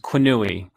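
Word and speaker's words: Quenouille: was by the statistician i'm going to butcher his name but i think it's pronounced qunui and he used the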